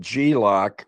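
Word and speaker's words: G-LOC: Uh there's something called Glock and that's spelled G L O C.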